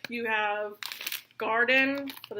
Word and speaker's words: Gardein: You have Garden, but it's like spelled like Gardein, and then Morningstar.